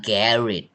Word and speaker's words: garage: นี้ ว่า gar คน อังกฤษ อ่าน ว่า garet นั้น คำ นี้ อ่าน ได้ 2 อย่าง แก